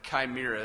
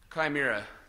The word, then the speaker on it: chimera: Chimera is the actually the way I guess you're supposed to say it.